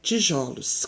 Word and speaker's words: tijolos: palavra tijolo no plural na pronúncia da palavra no plural o o da silva ju é aberto ou fechado vocês acham nós falamos tijolos ou tijolos o certo é o aberto né tijolos quando se falar no